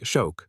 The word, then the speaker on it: xoc: The first theory connects shark to the Mayan word xoc, pronounced roughly like shok or shock, which was used in